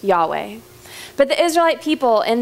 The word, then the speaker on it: Yahweh: English it comes out to yhw H and pronounced Yahweh but the Israelite people in the ancient Jewish